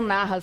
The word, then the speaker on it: Nahas: Você vai escrever o Narras com H, tá? N-A-H-A-S. É assim que pronuncia direitinho? É isso mesmo.